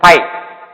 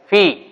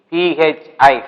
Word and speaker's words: phi: boys will pronounce that pi, you don't pronounce this one as pi, that is phi, P-H-I, phi, H is silent mode, so you don't read as pi, that is called phi.